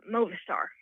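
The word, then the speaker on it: Mauvaisterre: It's mauvais and terre. And when you say mauvais terre, it means bad earth. But, of course, we don't speak French here, so we pronounce it Movistar.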